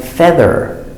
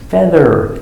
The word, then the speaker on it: feather: But here we have EA, it makes the sound like feather, feather, and bread.